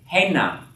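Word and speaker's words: הֵנָּה: I have to say heina. Accent on the first syllable.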